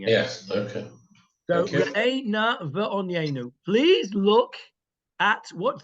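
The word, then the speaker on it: ראה נא: it's the correct way of pronouncing it. Yes. Okay. So re'eh na va'onyenu.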